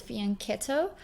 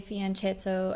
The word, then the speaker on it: fianchetto: to say it is faneto because CH in Italian is pronounced with a c uh but a lot of people say fianchetto as well as long